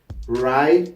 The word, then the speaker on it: write: So usually when you see a word starting with the WR, the W it's not pronounced.